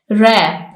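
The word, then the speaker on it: wrap: N silent है है रैप इसमें डब्लू साइलेंट है लनल इसमें ओ साइलेंट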